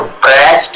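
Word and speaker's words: broached: तो ब्रेच्ड इसका प्रोनाउंसिएशन है.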